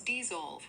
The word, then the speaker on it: dissolve: So it's dissolve with a clear Z sound in the middle, not a B.